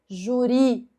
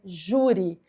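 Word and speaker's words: júri: É assim, juri é uma paroxítona terminada em i. Então aqui ela não é oxítona. A sílaba mais forte não é a última, é a penúltima. Não é juri. É juri.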